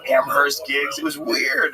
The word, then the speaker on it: Amherst: I mean like un like Amherst you get like amers gigs it was weird